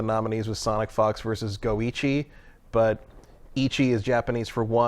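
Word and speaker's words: GO1: Go numeral one, and Jeff read it as Go one, which is not that surprising though. I mean, you can keep all that esports stuff straight, right? I'm sure I mispronounced something else in one of the other categories, but I was like, no, it's Goichi, you fool!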